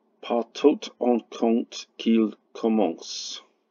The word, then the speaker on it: commence: Par tout on compte qu'il commence. The reason you know it's commence, not commencé, is because it rhymes with obédience, which obviously doesn't have an acute, because acutes aren't used.